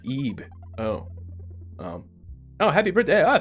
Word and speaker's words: Ib: Is it Ib? Or is that LB? Is that pound? Is that the British pound, dude? Mate? The British pound, mate? Or like pounds as in like weight? Oh, it's pronounced Ib.